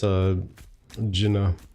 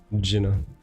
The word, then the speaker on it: Jinnah: You almost pronounce the D and the J at the same time. Like not even with the like split second change. Like you would say if you were to fling something or swing something. You would say it at the like the exact same time, the D and the J. Jinnah.